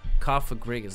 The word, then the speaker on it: Cofagrigus: I want to say Kafra, but it's Kafa. Cofagrigus, like sarcophagus.